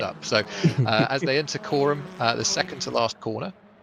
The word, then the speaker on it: Coram: It's not Karam. Everyone is just kind of taking it steady. It's not Karam. No, Phil. I have to correct the pronunciation a little bit, but there are Coram into Murray's great combination.